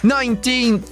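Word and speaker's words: nineteenth: Ela soa como tin, como na palavra tinta. E na última parte a gente coloca a pontinha da língua entre os dentes para fazer o som do th.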